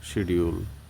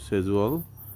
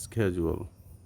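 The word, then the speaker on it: schedule: তো আমাদের বাংলাদেশে এই উচ্চারণটা নিয়ে একটু কনফিউশন তৈরি হয়, কেউ বলে শিডিউল, কিন্তু আসলে এটার উচ্চারণটা হচ্ছে সেজুয়াল, আমেরিকান উচ্চারণ হচ্ছে স্কেজুয়াল। যেমন সেজুয়াল হচ্ছে ব্রিটিশ এবং স্কেজুয়াল হচ্ছে আমেরিকান।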